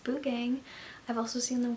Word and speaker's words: Buugeng: this video off by saying that it is pronounced boo gang I have heard some really really crazy pronunciations of this Celeste I'm stating right now it's pronounced boo gang I've also seen them called s stops but